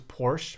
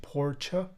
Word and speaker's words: Porsche: an email it's like how the u.s pronounces porsche but it's actually porcha oh how do you